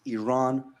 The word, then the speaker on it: Iran: the Iranian people but you're pronouncing our country's name wrong our country is named Iran you know what I